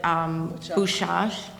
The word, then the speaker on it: Bydgoszcz: in her town, which, excuse me if I'm pronouncing it wrong, but. - Bydgoszcz. - Bydgoszcz?